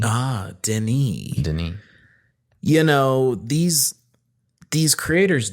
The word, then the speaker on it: Denis: It looks like Dennis, but it's pronounced Denis. Ah, Denis.